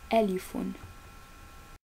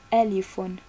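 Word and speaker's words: ألف: the first letter as i already said is alifun now we are going to learn how to pronounce it so repeat with me because by practicing you can learn easily and faster so repeat with me alifon elephone elephone did you say it good job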